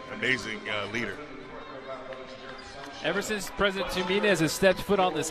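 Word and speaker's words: Tuminez: I tend to say Tumenez, but it's Tumenez.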